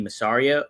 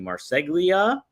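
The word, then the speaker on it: Marseglia: He mentioned how Bray Wyatt had a initial plan for him and uh the Righteous, that's uh Vinnie Msario, not Vinnie Masario, uh Vinnie Marsegia, hope I said it right, Dutch aka Bill Carr.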